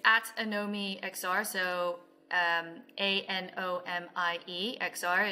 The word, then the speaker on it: Anomie: young so it's at anomi XR so um a-n-o-m-i-e XR it's like uh it sounds like I know me that's really what we're going for but it's it's not spelled like that you can also find